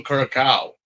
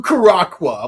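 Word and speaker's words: Curaçao: It's Blue Curacao. Like seriously. Yeah. It's like try Blue Caracqua.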